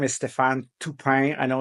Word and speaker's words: Stéphane: well my name is Stefan tupay I know it's not easy for um people here in the US to say my name it's not Stephen is Stefan um I'm French Canadian